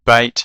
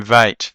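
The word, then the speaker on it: ב: Uh the letter bait is said bait and then vate. That's the the hard and the soft sound, the the hard B and the soft V, but it's the same letter.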